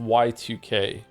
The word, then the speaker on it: YIIK: Is it pronounced yik or yike? It's actually pronounced Y2K, but everyone just says yeek.